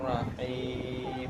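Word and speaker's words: الرحيم: Him, dipanjangkan, bibir bawah turun. Rahim, menurunkan bibir bawah. Kakak seperti tersenyum atau nyengir.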